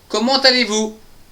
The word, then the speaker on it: comment allez-vous: va donc nous donner comment allez-vous ? Comment allez-vous ? Vous allez bien ? Je vais bien aussi. Comment allez-vous ? On fait bien une liaison entre le ta.